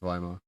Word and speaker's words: Weimar: It's definitely pronounced Weimar.